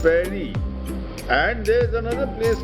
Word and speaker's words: Paidi: To the east is Pairi. Paidi and pronounced Pairi.